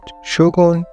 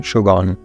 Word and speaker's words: شوگون: کی هستش ولی خب از اونجایی که غربی‌ها نمی‌تونن این کلمه رو درست تلفظ کنن بهش میگن شوگان آتام و تو کیه